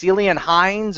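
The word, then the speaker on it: Ciarán Hinds: But yeah, they have the conversation, and it's Cillian Hines, or I think that's how you pronounce his name, the actor that plays Mance.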